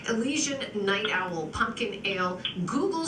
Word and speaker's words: Elysian: Is it Elysian? Elysian, yes.